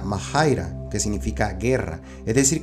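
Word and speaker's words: μάχαιρα: figuradamente guerra es esta palabra griega que se pronuncia mahaira que significa Guerra es decir que en el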